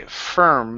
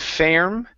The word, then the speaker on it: firm: a look here um this is going to be firm instead of fairm fir firm firm okay